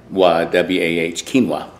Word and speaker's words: quinoa: quinoa spelled q-u-y-n-a-way but it's pronounced Keen k-e-e-n-w-a-h- quinoa and it's an old